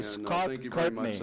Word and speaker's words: Scott Courtney: aqui nessa nossa audiência pública Muito obrigado é Scott Courtney a pronuncia do meu nome e muito obrigado bom